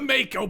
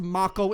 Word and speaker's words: Mako: him ah yes yeah it's pronounced ma KO in this game but I keep thinking Mako I mean then I